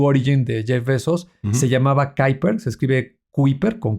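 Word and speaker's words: Kuiper: En el caso de Blue Origin de Jeffos se llamaba Kyer. Se escribe quiiper con K, eh, y ahora le llaman Leo.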